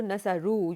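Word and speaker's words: نصروا: you change nasara into nasaru, you add a vav in that, and alif is just in the writing, so we don't actually pronounce it here.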